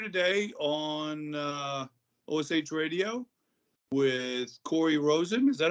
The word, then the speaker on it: Cory Rosen: But yeah, so I'm here today on OSH Radio with Cory Rosen. Is that how you pronounce it?